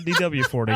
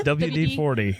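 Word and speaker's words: WD-40: It No, it's not DW40. Oh, it's WD40.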